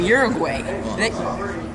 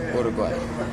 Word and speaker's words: Uruguay: On my hike to Garden Grove Mountain, I encountered some scouts from Uruguay. It's pronounced Uruguay.